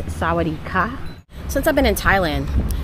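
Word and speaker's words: สวัสดีค่ะ: want to say hello, that ka at the end is for females, and I forgot what men say, but there are different pronunciations for men and women.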